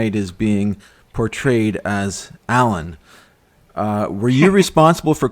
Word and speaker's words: ALAN: say what's this who's alan and but in principle it should be pronounced a-l-a-n but uh but anyway